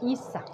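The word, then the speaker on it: Hiza: de Facebook se llama El Dulce Mundo de Isa. Isa se escribe H-I-Z-A.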